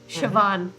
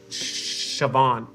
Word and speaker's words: Siobhan: to The Quiet One Siobhan Siobhan yeah that's spelled in the Irish way it was absolutely a million vowels s-i-o-b-h-a-n correct okay uh